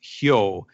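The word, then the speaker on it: 豹: Leopard happens to be pronounced hyo in Japanese.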